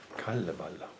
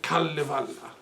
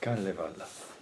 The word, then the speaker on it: Kalevala: Kalevala. I'm sorry, my pronunciation is dreadful. You call it Kalevala. Kalevala. Okay. Kalevala.